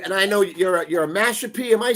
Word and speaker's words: Mashpee: And I know you're a Mashpee. Am I saying it correctly? Mashpee.